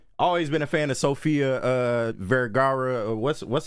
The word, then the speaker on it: Sofia Vergara: Hey, I always been a fan of Sofia Vergara. What's how you pronounce that?